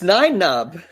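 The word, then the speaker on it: Nunb: Is it Nun? Uh Nub. Something like that. It's Nub.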